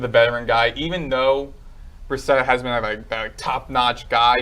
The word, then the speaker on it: Brissett: Brissett?